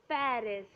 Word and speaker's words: Paris: definitely city of light is Paris or it's called Pari in French what it is called Pari huh okay next is